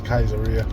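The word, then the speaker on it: Caesarea: came out of Kaiser I looked at the pronunciation it says kaisera so I'm going to go with that acts 10:1 there was a certain man in kaisera called Cornelius a centurion of the band called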